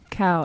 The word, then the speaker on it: Sitnikau: Sitnikau. Everyone, okay. Everybody murders my last name, and it's so easy. It's as it's spelled.